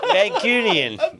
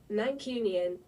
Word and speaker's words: Mancunian: Mancunian.